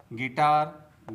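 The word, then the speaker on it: guitar: Antique antique टंग टंग तो दोस्तों आपको भी साइलेंट लेटर यू से बने शब्दों का इसी प्रकार से प्रोनाउंसिएशन करना चाहिए।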